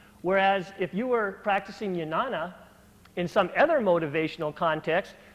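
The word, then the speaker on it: Jnana: leap up here to yanana yoga yes it begins with a J but it's actually pronounced more like a Y yanana Yoga and yanana is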